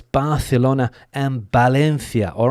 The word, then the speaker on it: Valencia: So, it's Barlona and Balenthia.